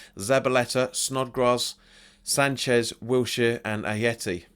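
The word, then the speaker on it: Ayew: Snodgrass Sanchez Wilshire and a Yeti I think you pronounce a cos it's not a J it's not pronounced as a Jayce pronounced as a hater I think it's a Yeti so let's talk about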